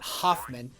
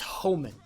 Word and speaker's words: Homan: Whenever somebody tries to mispronounce my name, I say no, it's not Hoffman. It's Homan, with a distinctive ho. The ho is distinctive. It is Ho Man.